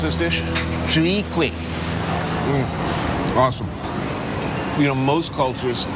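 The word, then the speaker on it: Chwee kueh: How do you pronounce this dish? Chui Kwek.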